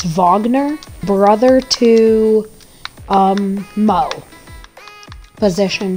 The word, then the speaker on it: Wagner: it okay and then it's spelled wagner but it's wagner brother to um mo